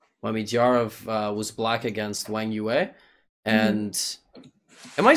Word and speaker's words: Wang Yue: we looked at, when Midyarov was black against Wang Yue. And am I saying that remotely correctly, by the way? I think I'm like... Wang Yue, you're killing it.